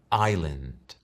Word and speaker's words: island: En inglés suena island.